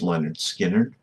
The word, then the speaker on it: Lynyrd Skynyrd: I think he was given the game off tonight, but this used to be his walkup song off of pronounced Leonard Skinnard.